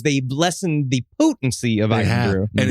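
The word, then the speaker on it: Irn-Bru: this large bottle of Urn Brew. It's Iron Brew. It's Iron Brew. You guys are just saying it wrong on purpose.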